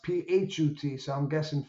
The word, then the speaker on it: Put: had a son name p pronounced phut so I'm guessing F